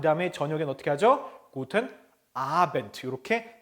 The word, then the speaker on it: Abend: 자, 참고로 끝에 나오는 D는 T라고 발음한다 그랬죠? 그래서 Abend 그쵸?